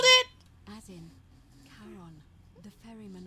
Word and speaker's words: Charon: The name you heard wasn't Karen. It was C-H-A-R. Fucking called it! As in, Charon, the ferryman of Called the it!